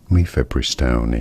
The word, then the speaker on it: mifepristone: the abortion pill medicine, mifepristone, or how you pronounce it? Mifepristone is how it is said.